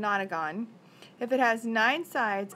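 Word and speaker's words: nonagon: has nine sighs and I'm sorry I keep pronouncing it wrong it's an otter gone if it has nine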